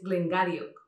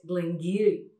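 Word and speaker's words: Glen Garioch: Y otro súper curioso es el que, leyendo la etiqueta, diríais Glengarioch o Glengarioch. Este es uno de los más difíciles, es Glengiry.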